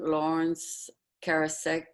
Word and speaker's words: Laurence Karasek: morning happy sunday um i'm happy to welcome lawrence karasek is that the right way to pronounce it that is the right pronunciation most